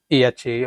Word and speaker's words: AHA: caught my eye um AHA or is it pronounced aha yes aha so um talking